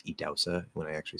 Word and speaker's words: Idahosa: uh from edause yes that's one way to spell it um i-d-a-h-o-s-a um i remember how to spell his name